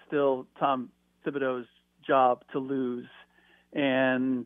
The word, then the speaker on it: Thibodeau: job to lose and is it thibodeaux or thibodeau because he's known as tibbs everybody says tips but it's spelled with the th so are we doing the silent h thing yeah it's tibs but the full name